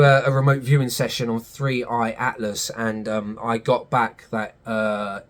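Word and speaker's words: 3I/ATLAS: Now, with the presence of 3i Atlas coming on the scene, I said it right that time, God, go back to one of my videos. I kept calling it Free AI Atlas for some reason.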